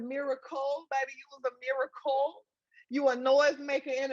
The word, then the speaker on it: Miracle: Is it It's miracle, but everybody say, so it's both.